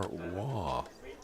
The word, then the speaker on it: Roy: is it Roy or w we know the great wonderful goalie of the Montreal Canadians spelled the same way Ro y but it was pronounced Patrick W so to get some